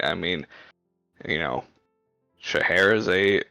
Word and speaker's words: Scheherazade: Scheherazade. Ah, yeah. See, I was. It's the ADE at the end of it that gets me.